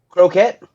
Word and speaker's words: Croquette: Gemini Concord Coquette. contest. Coquette. Corquette. Corquette. Coquette. Quit. Coquette. It's Like- CRO. It's Croquette.